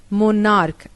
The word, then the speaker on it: monarch: topaz to passes but when CH is pronounced as k only s is added like monarch m-o-n-a-r-ch monarch plural monarchs